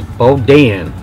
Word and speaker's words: boudin: So they pronounce this as boudin.